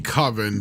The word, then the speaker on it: Coven: it's actually supposed to be Coven, but like the joke, Tim, is that Mark keeps saying, no, it sounds like oven if you say it like that. I want to call it Coven. And the other guys, yeah, but that's not how it's pronounced.